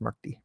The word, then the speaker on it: Murthy: It's actually pronounced Murthy.